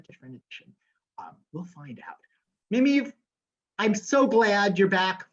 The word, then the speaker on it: Mameve: Well, it's Mameve. Two grandmothers, a Mamie and an Eva. And they were stuck together, and it's been kind of the bane of my existence.